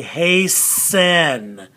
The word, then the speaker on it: hasten: and it is hey do we say hasten we don't we say hey sen so that t is silent so we go hey